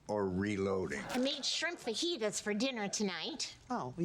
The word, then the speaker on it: fajitas: In that case, they're chicken fajitas. I know you two are in the middle of a thing, but it's pronounced fajitas.